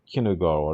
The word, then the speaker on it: Kinugawa: Shinonome and Kinugawa aren't Kinugawa, that's how you say his name, aren't gonna let up until the last second.